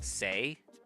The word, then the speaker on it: C'est: vie, but like I know that that it's pronounced C'est.